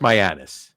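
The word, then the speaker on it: Mianus: it's it's so now it's pronounced myanus right that's what it's pronounced but you can't help but say myanus right you can't help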